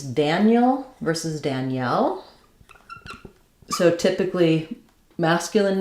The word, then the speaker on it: Danielle: So the E keeps its sound here, like in red, Danielle.